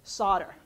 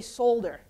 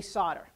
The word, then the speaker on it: solder: material called solder now although there's an L in there and although from New Jersey I'm saying it right it's solder okay in the UK they'll say solder but here we say solder and solder is the